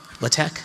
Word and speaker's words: LaTeX: Table outputs, they can be HTML, LaTeX, that's how I pronounce that, and RTF.